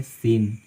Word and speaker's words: scene: जैसे कि मान लीजिए यहाँ पे है सीन, SCENE, तो यहाँ पे जो सी है उसका उच्चारण बिल्कुल नहीं होता है, चुपचाप रहती है।